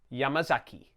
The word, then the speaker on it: Yamazaki: Each syllable is the same length. If you find that difficult, try to put the stress on the first syllable, Yamazaki. This will help combat the Anglophone tendency to say Yamazaki.